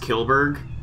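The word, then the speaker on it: Kjellberg: I think his last name is pronounced Kilberg. Because I do remember a Swedish. Because there's a Swedish band that I listen to, and a guy acknowledged his name before. Apparently, because he knows him personally, and he said, and I think that's how he pronounced it.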